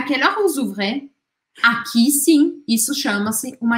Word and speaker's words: vous ouvrez: Aqui, por conta deste O aqui, que é uma vogal, eu acabo pronunciando o S que vem antes. Vous ouvrez, vous fermez.